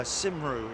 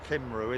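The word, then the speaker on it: Cymru: to first class uh simru is it yeah but that's that's pronounced kimru isn't it kimru or um yeah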